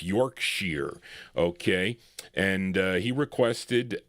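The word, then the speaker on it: Yorkshire: That's how you pronounce I used to say Yorkshshire, but it's Yorkshere.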